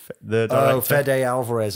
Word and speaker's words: Fede Alvarez: Because, sorry, how do you pronounce his name? Is it Fede Alvarez. Fede.